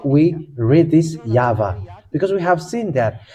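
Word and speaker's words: יהוה: O, or some say U, but the original one is V. And I am just answering that for those people who say that there is no V in the Hebrew letter.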